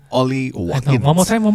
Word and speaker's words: Ollie: say the name again Ali Watkins is that how you say it Ollie okay one more time